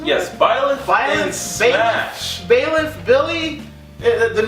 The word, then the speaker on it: Byleth: Is that how I'm pronouncing it? Yes, Byleth in Smash.